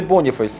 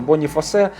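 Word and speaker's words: Boniface: ж таки ві вірно Ну не боніфейс я прогуглив там написано боніфасе А от куди наголос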